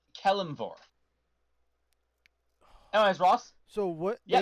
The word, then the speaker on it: Kelimvor: I think I said it right, Kelenvor. It is Kelimvor.